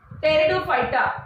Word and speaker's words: Pteridophyta: Last, third one, it is division 3 टेरिडोफायटा. Spelling कडे लक्ष द्या. दो इट इज PTERIDOPHYTA, इट इज प्रोनाउन्स्ड ॲज टेरिडोफायटा. P silent आहे.